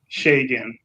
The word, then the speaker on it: Segun: Shagan. Shay? Gan. Yeah. Shagan. Shagan. Yeah. Like Shay. Yeah. Yeah. Okay. Shea butter. Shea.